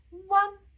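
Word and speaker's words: uan: right qua qua U + A+ n in Chinese equal one one one you see how I'm pronouncing it it's very short one one one it's the same like the previous sound you just need to add the n Sound in the end one one one just like actually in an English word one like number one right one one it's the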